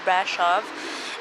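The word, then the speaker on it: Brașov: This whole place is called the town square of Brasov, and yes, you pronounce it with like sh. The S's are like sh, not like s.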